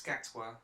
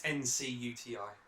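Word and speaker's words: Ncuti Gatwa: Like I forget how you pronounce it. Nkuti Gatwa. It's Gatwa. Yeah. It's Ncuti.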